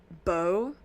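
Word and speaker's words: beaux: French words um and like bow b e a x is how that's pronounced so I'm assuming do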